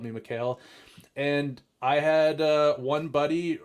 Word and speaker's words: Mikhail: Like the Hail is actually not pronounced like hail. It's more like L.